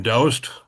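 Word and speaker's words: Doust: The middle name dowst is pronounced to rhyme with soust, though seldom if ever was he.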